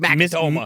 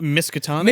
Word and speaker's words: Miskatonic: Makatoma. Miskatonic.